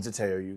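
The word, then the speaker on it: Zeteo: Binface himself joins me here on Zateo UK. Welcome Count Binface to Zato UK.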